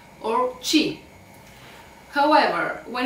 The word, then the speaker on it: chi: So C, H, E, and it's pronounced che, which means what. And if we want to say chi, we should use C, H, E.